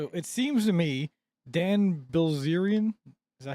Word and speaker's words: Bilzerian: it seems to me Dan Bilzerian, is that how you say his name?